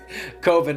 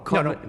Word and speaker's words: Coven: Coven. No. Coven sounds like oven, man, and that's just, it doesn't work. Unless you want to put an umlaut or something over the O.